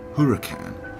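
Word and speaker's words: Huracán: the car you were looking at pronounced Huracan replaces the 11-year-old gardo and is according to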